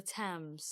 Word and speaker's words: Thames: It's the Thames.